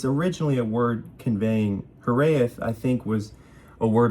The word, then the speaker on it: hiraeth: It's Hiraeth, I think is how you say it. Hiraeth, Hiraeth.